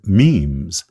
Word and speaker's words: meme: of Eden Dawkins also coined the term memes and told us the word rhymes with teams which back when I